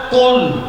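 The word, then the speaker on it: قل: শব্দটা লক্ষ্য করার শব্দ হচ্ছে কুল। শব্দ কি? কুল। এটা কফ উচ্চারণ করতে হবে।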